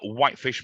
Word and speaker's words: Whitefish: pronunciation and spelling uh whitefish marketing for me was always something quite simple um i but if i have to say it to people i say wipe the color fish the animal but what i'm getting